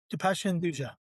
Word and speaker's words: Dipesh Hinduja: I'm joined by Dependa. Did I do I pronounce it right? Dependa.